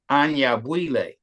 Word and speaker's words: Anyabwile: people say any because that's English but it's Anya buille and then once you understand that like and